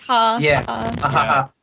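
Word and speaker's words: jaja: you know um whatever ja ja ja like how Spanish people I guess do LOL it's like it's pronounced ha ha did the ha thing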